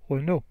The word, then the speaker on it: Renault: So Renault is a French car maker, and it rhymes. You see, beau Renault.